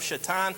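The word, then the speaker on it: Šatan: And then the Sabres are finally able to get the puck past the Moose, Miroslav Shatan, spelled like Satan, and this is just evil.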